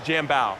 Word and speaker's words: Jambao: going to do also name correction it's jam bao jumbo so jambao excuse me like it rhymes with rambo yeah yeah and if